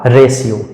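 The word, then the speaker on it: ratio: patient उसी तरह से आगे है आर ए टी आई ओ टी के तुरंत बाद टी के तुरंत बाद आई ओ आया तो इसलिए टी का सही उच्चारण हो जाएगा तालव्य का सा अर्थात इस शब्द का सही उच्चारण हो जाएगा रेशियो रेशियो उसी तरह से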